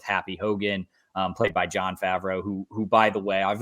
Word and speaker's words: Favreau: Dude, Jon Favreau fucking yes, I'm pronouncing it like an asshole on purpose. Is that how it's pronounced? Maybe. No, it's definitely Favreau.